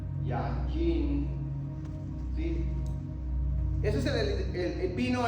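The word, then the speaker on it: יין: Miren, por ejemplo, la palabra yajin, así se pronuncia, yajin, ¿sí?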